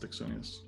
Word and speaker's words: Axonius: It's pronounced Axonius.